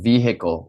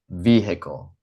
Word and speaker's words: vehicle: For example, in vehicle, we say vehicle, not vehicle. It's not vehicle, it's vehicle.